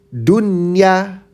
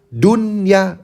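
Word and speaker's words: دنيا: Jadinya dunya jelas dunya udah biasa aja enggak usah dun ya atau bun yaun jelas enggak usah buya nun jangan jelas.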